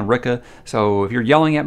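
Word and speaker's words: Rikke: i i don't know he starts calling her sticky ricky i think to kind of say that's how what her name is pronounced like in this book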